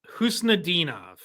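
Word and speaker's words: Khusnutdinov: Can you remind me how to pronounce his last name? So his name is Marat Husnadinov.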